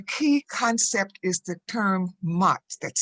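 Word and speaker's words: Maat: In Afrocentric rhetoric and communication, the key concept is the term MAT, that's spelled M-A-A-T.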